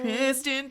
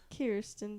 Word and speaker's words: Kirsten: Kristen Dun. Kirsten Dun said it wrong. No, it's my fault. I said Kristen first.